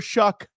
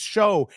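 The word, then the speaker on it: Shough: They kept calling him Tyler Shuck, Shouck. Tyler Shuck. Then somebody got a hold of the commentators or whatever. They were like, "It's Show," and they kept calling him Shoe.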